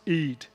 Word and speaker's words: id: I D I D E it is pronounced Eid. Eh uh define that one as well. Uh so these things boost the Eid and the libido.